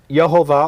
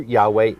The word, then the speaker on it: Yahweh: Yehovah or Jehovah, a mispronunciation of the Hebrew Yahweh, the name of Elohim.